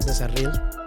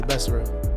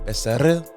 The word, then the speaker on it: Becerril: So proper way to say my last name is Becerril. Becerril. But in English it'll be Becerril. See how I roll that? Becerril.